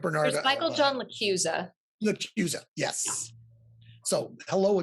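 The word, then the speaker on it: LaChiusa: He wrote Bernard There's of Michael John LaCusa.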